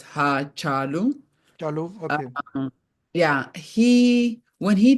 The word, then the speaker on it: Hachalu: So his name is pronounced in Oromo as Hachalu.